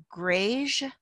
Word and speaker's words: greige: untreated and that is called greige which rhymes with beige or gray goods sometimes